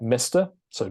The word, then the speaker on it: Mrs: So for a man, you would write Mr. So Dear Mr.